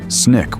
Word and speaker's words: SNCC: SNCC pronounced SNIK was a civil rights organization of young activists, mostly college students, who came to Mississippi to register black voters.